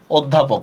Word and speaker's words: অধ্যাপক: এবার ঢাবি পরীক্ষায় আসছিল অধ্যাপক কি হবে অদ হসন্ত ধকার পসন্ত অধ্যাপক দেখছেন শেষে একটা অক উচ্চারণ আছে অক ঠিক আছে যেমন দেখেন